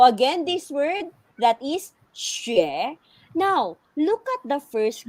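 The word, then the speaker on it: xué: yes okay so again this word that is she now look at the first character how do we pronounce the first character look at this opinion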